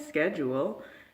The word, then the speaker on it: schedule: to say schedule, and that's not how it's pronounced here. It's definitely schedule, and if you're saying schedule, it's kind of